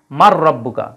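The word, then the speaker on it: مَن رَّبُّكَ: রব কিন্তু আমরা পড়ার সময় একসাথে কি বলি মার রাব্বুকা তোমার রব কে কিন্তু শব্দটা কি মান রাব্বুকা হ্যাঁ কিন্তু ঈদগামের কারণে হয়ে যায় মার রাব্বুকা যাই হোক তাহলে মিন মানে হতে রিজুকি শব্দটা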